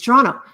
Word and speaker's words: Toronto: how to pronounce it it's Toronto you don't say the T if you're Canadian a yeah it's Toronto